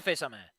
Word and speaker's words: face à main: No, that is a face à main.